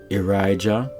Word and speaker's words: Irijah: And you have here I-R-I-J-A-H, Irijah.